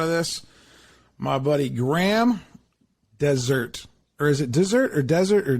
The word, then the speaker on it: Dessert: the time and uh it is desert it's pronounced desert spelled dessert uh but you know